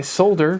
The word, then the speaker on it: solder: I say solder because there is an L in it.